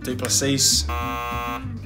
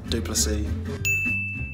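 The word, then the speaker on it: Du Plessis: Some people go Duplessis, some people go Duplessis, but it's Duplessis.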